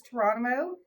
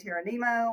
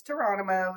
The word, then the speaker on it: Touronimo: what you do okay yeah my business is torono destination Management Group it's pronounced like jono only tour t r um sometimes people will say tyano or some different versions no it's torono it's very simple um and we like to